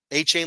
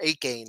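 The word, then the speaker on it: Achane: Whenever I see his name, like you hear A-Chain's name, it's like, okay, that makes sense. Whenever you see his name, you don't want to say it like that. You want to say Ake or Ake-Gain or something like that. The CH, ACH kills me.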